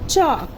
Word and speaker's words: chalk: चॉक। सो CHALK चॉक, यहाँ पर L silent होता है, CHAK चॉक, L साइलेंट है, सो CHALK चॉक हो गया।